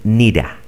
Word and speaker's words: need to: Los nativos, el need con el to simplemente dicen nida, ¿ok?